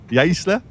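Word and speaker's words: Jaissle: I mean, it's looking like, is it Yasil or Yasle? I don't know how to pronounce it. Yaisle. Yaisle. Trying to be careful now. We've got a guy who can speak German here, so Yaisle.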